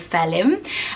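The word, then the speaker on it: Phelim: and there's an actor, he's actually anglicised this to spell it P-H-E-L-I-M. So if you love the sound, you think the spelling is too much, you could use the phonetic spelling of Felim.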